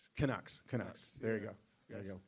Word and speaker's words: Canucks: Yeah, the how you pronounce it, the Canucks. Kucks. Canucks.